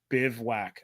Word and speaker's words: bivouac: By the way, the tent is pronounced bivouac. I kid you not. Bivouac. Did I pronounce that right? I think so. That's bivouac. That's really you can't have whack at the end.